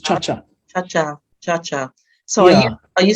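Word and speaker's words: Tsha Tsha: Sorry, I'm rubbish with my Cha-cha. It's actually, it's named after the Latin American ballroom dance, just cha-cha.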